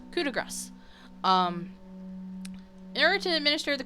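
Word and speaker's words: coup de grâce: For years I thought it was coup de grace, and most people do. But technically, French pronunciation would make you say the C, but right there. So it's coup de grace.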